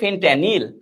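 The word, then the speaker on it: fentanyl: ফেনট্যানিল এরকম নাম উচ্চারণটা হবে, ফেনট্যানিল।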